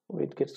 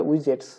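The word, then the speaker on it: widgets: উইড গেটস গুলোতে বা অনেকে এটা উচ্চারণ করে উইজেটস আপনি যেমন পছন্দ করেন কেমন ভাবে উচ্চারণ করতে পারেন একচুয়াল উচ্চারণ আসলে উইজেটসই হবে তো উইজেটস গুলো আসলে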